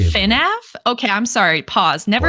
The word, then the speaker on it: FNAF: FNAF.